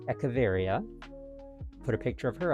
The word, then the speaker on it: Echeveria: I decided to name it after the succulent, I believe it's pronounced Echeveria.